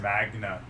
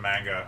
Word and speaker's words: manga: I said Magna instead of manga.